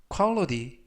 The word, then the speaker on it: quality: 이때 유의하실 점은 끝부분에 있는 알파벳 T가 트가 아니라 부드럽게 드, 그래서 quality 라고 발음하시면 좋겠습니다.